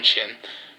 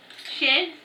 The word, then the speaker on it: shin: It's just that you pronounce the wrong chin. Shin? Yeah, it's shin.